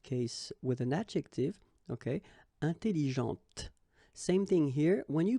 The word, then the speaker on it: intelligente: Intelligente. Same thing here. When you put this well, actually you will pronounce the final T, okay, but you don't pronounce this here. Intelligente.